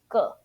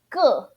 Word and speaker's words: 个: If you just use 个, okay, this character, when you type on Google Translate, it will show you fourth tone, but as a measure word meaning, you pronounce neutral tone or fifth tone, 个, instead of 个, okay, is 个.